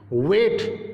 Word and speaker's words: weight: वेट, WEIGHT, वेट, इसमें भी GH silent है।